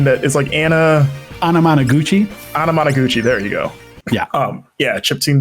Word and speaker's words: Anamanaguchi: Can you pronounce the band's name that is Anna Anamanaguchi. Anamanaguchi?